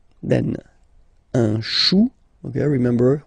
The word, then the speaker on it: chou: Then, un chou, okay, remember, when you combine this c and h, you get the sound sh, chou, un chou, pluriel, des choux, okay.